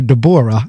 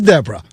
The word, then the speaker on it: Deborrah: at and I said okay that's two R's so either that's Debra or de Bora and I'm not sure which and since it's spelled differently that's why I was pronouncing it de Bora so it is Debra right yeah you know